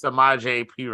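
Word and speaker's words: Samaje Perine: So the only reason I know how to say is Samaje P Ryan.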